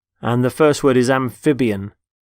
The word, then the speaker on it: amphibian: the first word is amphibian amphibian notice the stress on the middle syllable amphib amphibian they're animals such as